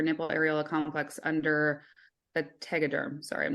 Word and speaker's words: Tegaderm: and surgery or nipple aola complex under a Tegaderm sorry I'm not sure if I'm saying that